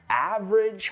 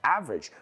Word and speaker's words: average: I was looking at just average hotels. Average, promedio, uno cualquiera. Que no se pronuncia average, sino average.